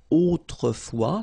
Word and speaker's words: autrefois: Autrefois, so A-U, autrefois, final S not pronounced, okay?